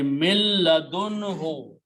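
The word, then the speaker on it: مِن لَدُنْهُ: Now, when we read them together, we will not pronounce the noon, but lam will pronounce twice.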